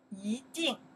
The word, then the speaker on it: 一定: You can say 一, you can say 一, in that case pronounce second tone, 一定.